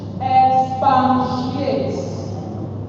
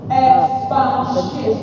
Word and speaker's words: expatiate: We misspell it, we mispronounce it. If you look it up in the dictionary, you will not see N in that word. What you will see is EXPATIATE. No N.